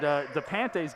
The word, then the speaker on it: DePante: Now, we've had a couple different pronunciations of his names, but we have heard that it is DePante. So we'll go with that, and if we're wrong, let us know.